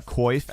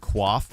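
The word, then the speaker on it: coif: both right gray fox just like how uh koif and quaff are both technically correct when talking about the armor even though quaff is actually the original pronunciation oh for sure mcnake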